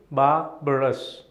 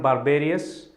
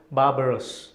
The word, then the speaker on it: barbarous: also means extremely brutal there is a misconception that you pronounce barbarous as in the same lines as barbarian you know barb arias it's not barbarous it is barbarous maybe you want to